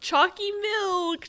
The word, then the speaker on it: Chalky M: Full name pronounced Chalky Milk.